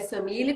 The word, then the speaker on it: Samili: Ó, meu nome é Samile, como eu já tinha falado, se pronuncia assim de forma simples.